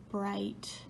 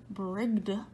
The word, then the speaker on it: bright: They all have a GH in them, but we don't actually say those sounds. We don't say ligged, right? We don't say brigged or migged, right?